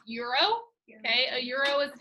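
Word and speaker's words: gyro: alright sometimes uh it is called this is pronounced euro okay a euro is the type of money they use in europe a euro is also how you print and pronounce g-y-r-o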